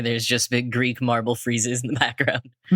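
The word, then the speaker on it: frieze: Freeze. I have no idea how to pronounce this word.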